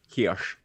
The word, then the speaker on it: Heche: Heche, how do we say her name? Heche.